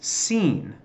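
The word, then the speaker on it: שׂ: how you pronounce it so if the dot is over the third of these little markings see a third to the right it's Xin if it's to the left its seen okay so that's just Li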